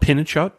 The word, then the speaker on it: pinnekjøtt: So I think it's, you know, I don't know if that really got brought over to the U.S., but it's called pinnekjøtt, I think is how you say it.